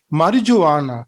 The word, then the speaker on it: marijuana: අපි මේක ප්‍රොනවුන්ස් කරන්නේ marijuana කියලා. මම නම් අහලා තියෙන මේ විදිහට. but මේකේ pronunciation එක ටිකක් වෙනස්.